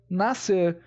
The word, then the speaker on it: nascer: pronunciado Diferentemente do ncer nascer o c não é pronunciado aqui e sim o s tranquilo só para tirar as